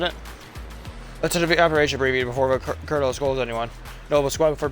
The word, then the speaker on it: colonel: I hate there's no R in colonel. Why is it pronounced that way?